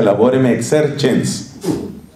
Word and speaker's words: Laborem Exercens: se llama Laborem Exercens, con C, y se pronuncia Laborem Exercens, donde habla del valor del trabajo humano.